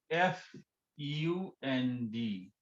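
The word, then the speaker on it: Pfund: found in five p f u n d so its pronunciation is fund p is silent on series okay pf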